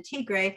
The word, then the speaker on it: Tigre: river delta um it the word kind of looks like tiger t-i-g-r-e uh the pronunciation teagray although interestingly enough uh